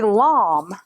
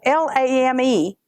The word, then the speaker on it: lame: So it t you'd use a lom. Now, it's spelled L A M E. It looks like lame, but it's called a actually called a lom.